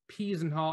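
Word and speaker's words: Peasenhall: small town called uh peasen hall sometimes you see it spelled with an r i'm pretty sure it's p's and hall actually even my slide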